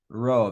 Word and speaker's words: rho: Rho. Very good. Okay, rho. How is that pronounced? How is the letter rho pronounced? I'm guessing by double and triple R, you mean trilled R, right?